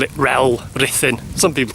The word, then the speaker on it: Rhyl: Make sure I get my pronunciations right. we call it Rel, Rhythin.